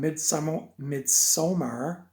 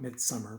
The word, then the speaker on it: Midsommar: Today we're talking about the 2019 film Midsommar, as the director pronounced it in the documentary. A lot of people would probably just call it Midsummer, but anyway.